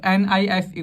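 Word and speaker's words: knife: मतलब होता है चाकू नाइफ की जो स्पेलिंग होगी उसमें के होगा साइलेंट क्या होगा के साइलेंट होगा उसको हमें प्रणाम नहीं करना है सिर्फ निफ को प्रोनाउंस करना है तो उसने अपने बाग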